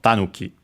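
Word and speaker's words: 狸: Actually accented on the first syllable, so tanuki.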